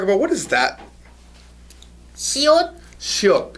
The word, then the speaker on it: 시옷: Shiot.